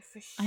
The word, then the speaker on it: förkyld: Förkyld. KYL. That's about fur. Oh, it makes sense. Yeah, K is pronounced like that when it's vowel.